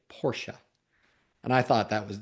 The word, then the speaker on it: Porsche: So the first thing I own I I learned was the proper pronunciation is Porsche. He said that if you call it a Porsche, that is a very quick way that he can tell if you're an enthusiast or not.